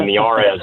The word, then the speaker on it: Miyares: I know Jesse probably knows how to spell it, but the I is pronounced like an E in Spanish. So the last name may be Miarez, but it's m i y a r e s.